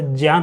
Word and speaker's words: ज्ञान: जिसको हम ज्ञान बोलते हैं ना, वो वास्तव में इसका उच्चारण सही जो होता है वह ज्ञान होता है, ज्ञान।